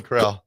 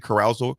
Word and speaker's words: Corral: called Golden carral Golden Corral they says somebody informed ad on the correct pronunciation coaching car I was saying Carousel I meant to say Carousel yeah I was like